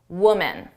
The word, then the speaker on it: woman: The difference is at the beginning of the sound woman. Women.